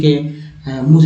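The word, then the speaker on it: calm: तो ये साइलेंट यहाँ पर एल है, तब क्या उच्चारण हो, CAM को ही सिर्फ पढ़ेंगे, काम, यानी एल यहाँ साइलेंट है, तभी तो मैंने यहाँ से म लिखा।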